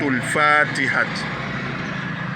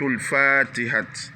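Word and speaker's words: al-Fatiha: Ouais, sourate al Fatiha. Ici, je mets deux A pour que vous tirez un peu. Sourate al Fatiha.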